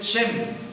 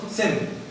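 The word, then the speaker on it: שם: Esta palabra nombre en hebreo es Shem. Es el nombre del primer hijo de Noé. ¿Sí? Nosotros en el español le escribimos Sem. ¿Sí? Pero en hebreo es Shem.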